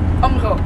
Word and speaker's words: Åbenrå: Åbenrå. It's spelled A-A-B-N-R-A. Ja, men egentlig er det et Å. Ja, Åbenrå.